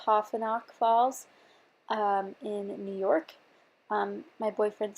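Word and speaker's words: Taughannock Falls: The photo that I'm scrapbooking today is a picture of the beautiful, I believe it's pronounced Tofinock Falls in New York.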